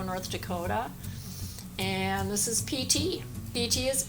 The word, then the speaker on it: Piti: I'm from Fargo, North Dakota, and this is Piti. Piti is 8. His name is a Pali word, meaning it's spelled P-I-T-I.